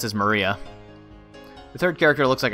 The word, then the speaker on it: Maria: Of course, it's pronounced as Maria.